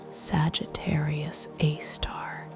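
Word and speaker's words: Sagittarius A*: It is called Sagittarius A, pronounced Sagittarius A star, named for the constellation in whose direction it lies.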